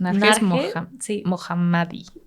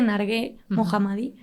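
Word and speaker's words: Narges Mohammadi: es que es Ay Cómo se pronuncia su nombre Ay no sé pero es nar mohammadi sí creo que es nar creo que se dice nargue mohammadi pues ya algún día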